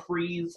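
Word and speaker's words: frieze: dwell on this but this is called a freeze I don't like that word because it sounds like freeze like something's freezing but it's spelled a little different and it's usually it's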